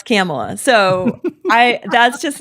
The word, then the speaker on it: Kamala: and Indians especially after mispronouncing Kamala okay so kamla can't pronounce camela so I that's just not an argument yes